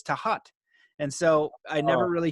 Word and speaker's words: Thoth: know the egyptian god thoth some people say thoth but apparently the egyptians tell me it's tahat and so i never really hear that so